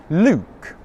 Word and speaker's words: Luke: English pronunciation tutorials I should keep making English pronunciation tutorials Luke look Luke look Luke look Luke look I've